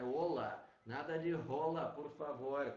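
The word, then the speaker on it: Hola: Nunca pronunciar a letra H. Ou seja, aquela saudação do Olá, que tal, né, que a gente tanto conhece, que a gente tanto já familiarizado, né, é Olá.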